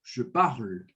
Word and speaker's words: parle: E o R, ele é bem rasgado, tá? Nossa Senhora. Como se fosse aquele R que você vai dar tipo um pigarro, tá? Sim. Parle. De toute façon, c'est vraiment subtil. Mas ele é um pouco sutil, não fica nada muito exacerbado.